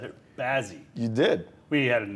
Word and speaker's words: Bazzi: I said it, Bazzi.